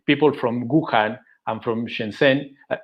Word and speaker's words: Shenzhen: I remember that we talked with people from Wuhan and from Shenzhen. I pronounce it well, Shenzhen. Yes, Shenzhen. You've been to Wuhan and Shenzhen.